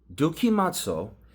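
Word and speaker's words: δοκιμάζω: Dokimazo is the Greek word from which we derive the word in Thessaloniki Aleph, 1 Thessalonians, test all things.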